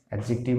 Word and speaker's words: adjective: এছাড়া যদি এখানে বোঝায় আকার আকৃতি, যেমন টল, শর্ট, স্মল, এগুলা অ্যাডজেক্টিভ অফ কোয়ালিটি হবে। ও সরি, মুছে দিলাম। এবার 3 নাম্বার দেখুন, 3 নাম্বার কি থাকছে, অ্যাডজেক্টিভ। অ্যাডজেক্টিভের উচ্চারণে ডির উচ্চারণ হয় না।